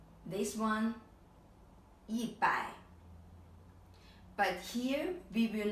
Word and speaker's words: 一百: I pronounce this 一百, this 一千, and this 一万. So here, actually, the pronunciation has changed, right? The tone has changed. This I pronounce 一百.